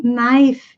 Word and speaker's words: knife: Tem knife, que é faca, K-N-I-F-E. Então, lembre-se, K não é pronunciado antes da letra N.